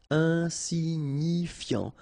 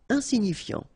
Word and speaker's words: insignifiant: irresponsable, légal, de luxe, final E not pronounced, insignifiant, okay, final T not pronounced, so you've got this IAN, yan, so F before, fiant, insigni, okay, remember, GNI, ni, insignifiant, insignifiant, mineur, EUR, heure, mineur,